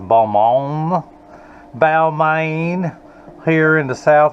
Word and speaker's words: Balmain: It's a French company that Americans would pronounce Balmain, but I think it's pronounced Balmain.